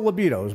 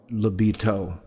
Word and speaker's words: LiBeatos: And but I will say it's spelled L-I-B-E-A-T-O-S. So it's not Libido, although we are a high-octane band. It's more like Libito.